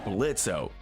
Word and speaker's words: Blitzo: Up next, we have the show's main demon, Blitzo. The O is silent.